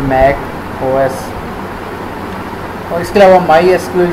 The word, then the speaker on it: MySQL: जबकि जो SQL है वो SQL भी इसको प्रोनाउंस किया जाता है। माई एस क्यूएल बहुत से जो है ना प्लेटफॉर्म को सपोर्ट